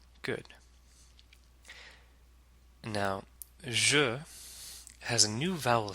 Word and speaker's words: je: Degree, de, je. And the J in je is pronounced like the J in bonjour. It's like treasure or pleasure.